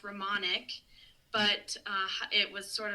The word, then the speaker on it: Romanick: So my last name is pronounced Ramonic, but uh it was sort of an evolution how it came to be.